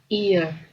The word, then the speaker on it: ear: ada dua ya kita ear dibacanya ya ear jadi e-nya tu jadi I gitu jadi ear this is